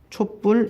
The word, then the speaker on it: 촛불: 바로 만들어서 단어가 만들어졌습니다 작업하는 하루 발음해 보면 촛불 이라고 발음하지 분명히 우리는 초라한 나라와 불이 하겠습니다 어떤